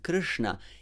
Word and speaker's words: Krishna: shiva shambhu shanti and this one which is in krishna it's is more dry and soft so your tongue is flexed don't move it from there and while it's flexed